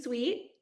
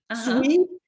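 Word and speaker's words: suite: top 1% and coaching suit is it suit or sweet I I cannot pronce you're right see sweet sweet because yeah sweet and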